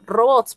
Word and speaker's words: robots: Por ejemplo, ah, robots, por ejemplo, justo, justo robots. Robots es una palabra aguda. Robots, palabra aguda.